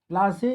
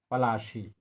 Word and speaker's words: Palashi: Plassey is incorrect pronunciation of Palashi, and the place derived its name from the Palash tree, known for its beautiful